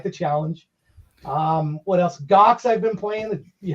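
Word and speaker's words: Ghox: okay i like the challenge um what else gox i've been playing the you know jar that's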